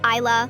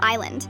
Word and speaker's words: Isla: Isa, like I can see the beautiful island.